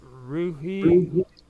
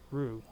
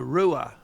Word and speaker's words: Ruhe: say your last name rui rui or Rue well we just say Rue although the German pronunciation is Rua but we just say Rue in English Okay so Brian ruer